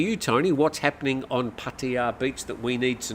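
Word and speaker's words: Pattaya: on P patea Beach Patia Patia that's how you pronounce it not ptia uh Tony hatsy Tony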